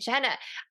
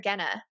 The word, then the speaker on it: Genna: All right, so with me today, I have Vincent Genna. Vincent, I didn't even ask you how to pronounce your name. Is it Genna or Genna? No, Genna, you said it right the first way, so that was very intuitive of you.